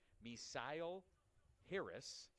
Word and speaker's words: Misle Harris: The aforementioned Misle Harris I pronounced that incorrectly before. My apologies. Misle Harris.